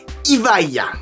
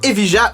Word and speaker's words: Evija: Sauf erreur de ma part, il me semble que Lotus prononce ça Evija. Mais comme je trouve ça un petit peu relou, je préfère dire Evija ou Evija.